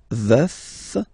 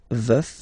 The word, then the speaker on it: veuf: Je suis veuf, veuf, so remember to pronounce the final F, veuf.